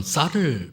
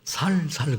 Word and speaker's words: 쌀: 근데 알고 봤더니 경상도는 쌀을 발음을 못 하더라고요. 경상도분 계시죠? 그분들은 살살 그러지 쌀 그러지는 그래서 쌀이 없다는 말을 살이 없어요.